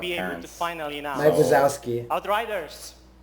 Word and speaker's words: Outriders: Outriders. That's how you pronounce it.